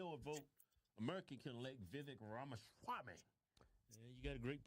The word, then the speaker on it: Vivek Ramaswamy: It's Vivek Ramaswamy.